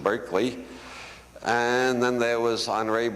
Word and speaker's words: Berkeley: city is named only we don't pronounce it Barkley anymore we pronounce it Berkeley and then there was